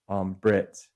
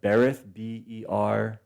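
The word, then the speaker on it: ברית: And it looks like when we spell it in English, it looks like Berith, Berith, but they pronounce it Brit.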